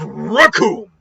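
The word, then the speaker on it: Recoome: the true might of raccoon and it rhymes with doom and guess what and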